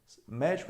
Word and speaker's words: médico: poucas porque faz diferença ó médico é um substantivo se eu tirar o acento eu vou ter medico tá médico mico percebeu a diferença aí ó número número é